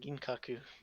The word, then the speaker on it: Ginkaku: remember no never mind i'm just getting their name wrong this whole time it's just kinkaku and ginkaku all right all right